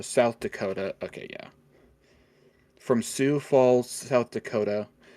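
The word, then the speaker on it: Sioux Falls: from uh what's that isn't that pronounced Sue Sue Falls maybe that's the that's the Native American tribe the Sue isn't it I think that's how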